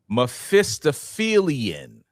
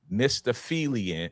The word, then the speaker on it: Mephistophelian: The word is Mephistophelian. Mephistophelian. Okay. Okay, you got to spell that one out.